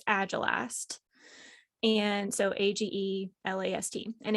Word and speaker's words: agelast: can pronounce this right agile asked agile i believe is how you it looks like age last but i believe it's agile asked and so a-g-e-l-a-s-t and